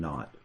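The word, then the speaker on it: naught: that I called that not that's how we pronounce that so that zero which stands for initial velocity we call them not okay so to find the average velocity I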